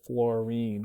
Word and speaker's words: fluorine: So even though this is spelled I-N-E, we still pronounce it fluorine, chlorine, bromine, iodine. This way it's different from fluoride, chloride, bromide, iodide.